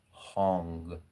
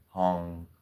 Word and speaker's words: Hang: That mantra Now look, I'm typing this in here, but the A's are pronounced as O's. So H A N G is Hong. Hong like a a H.